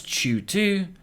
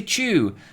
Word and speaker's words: CHOOH2: whatsoever swiftly moving on chew to pronounce chu tu or simply chu is either street slang